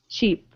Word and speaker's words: cheap: everyone listen just listen first ship sheep chip cheap okay so repeat after me ship sheep chip